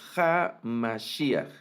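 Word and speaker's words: המשיח: Y en ocasiones una variante de pronunciación sería Yeshua a Mashiach, no Ja, sino a Mashiach, y aunque está la Hei, no toma ningún sonido, ¿no?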